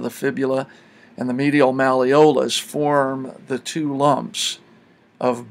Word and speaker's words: malleolus: known as the medial malleolus. Check to see if you can spell it by pronouncing it properly. If you say malleolus, there it is, mal-e-o-lus.